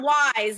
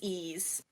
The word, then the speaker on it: Ys: it i've always said it's not wise it's not wise it's ease it's e so i've